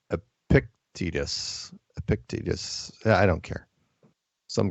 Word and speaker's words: Epictetus: Let's jump over to Peanut Gallery saying it's pronounced Epictetus.